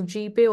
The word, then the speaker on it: GPAI: And GPAI, it is pronounced as GPay also.